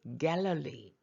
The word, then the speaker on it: Galilee: 유대 땅을 Judea, 갈릴리의 발음이 Galilee, 사마리아를 Samaria, area는 지역이고요.